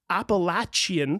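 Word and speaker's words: Apalachee: parts of Florida and the actual correct way to pronounce that tribe's name is appalachi okay I was able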